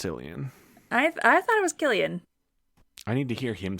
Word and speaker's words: Cillian: I thought it was Killian. I need to hear him say it. In the 80s, Alf ran under Marvel Comics. Ah, shit, you're right. It's Killian.